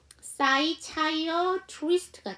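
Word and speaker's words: psychiatrist: 찾아 주세요 네가 무음이에요 PS 이렇게 시작했을 때 피는 어 무음이에요 자 그래서 사이 차이어 트위스트가 되죠 여기 안에 티어 사운도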